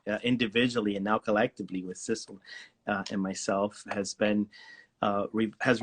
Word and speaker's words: Sidsel: My name is Sissel, without the D, but Sissel. I know it's hard to spelled Sidsel, pronounced sizzle with an S.